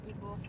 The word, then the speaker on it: Iboih: Iboih tulisannya. Bacanya apa, Sel? Ibo. Ibo. Oh, Ibo aja. I-nya enggak dibaca.